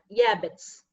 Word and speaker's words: Jabez: In Hebrew, it's pronounced as Yabez.